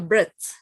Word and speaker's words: breath: this is a pronunciation when you see a t and an H you pronounce like a d take a breath take a break a breath breath like bread yes when you like a close D bread yeah breathe in